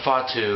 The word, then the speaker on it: Fatu: people may not know edifatu or Fatu as it's actually pronounced AKA Umaga was released